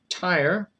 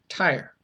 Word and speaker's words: Tyre: I keep wanting to say Tyre, I'm sorry. Tyre, I think is the correct pronunciation.